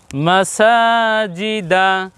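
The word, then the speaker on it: مَسَاجِدَ: হবে বাড়িয়ে বলতে হবে এজন্য আমরা সিনকে একটু বেশি করে বলছি সা বলছি তাহলে পেলাম কি মা সাজি উচ্চারণ হবে কি মাসাজিদা প্রিয় দর্শক আমরা আরো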